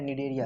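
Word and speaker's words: Cnidaria: देखो बेटा, निडेरिया है, निडेरिया, सी साइलेंट है, निडेरिया, इसी को बोलते हैं निडेरियंस।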